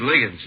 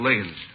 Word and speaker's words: Liggins: Uh, my name's Ligins. Liggins. Can you spell it, please? Yeah, it's L I G G I N S. Ligins.